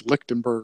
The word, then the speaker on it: Lichtenberg: when you look into this process, Lichtenberger or whatever, however you say it, it basically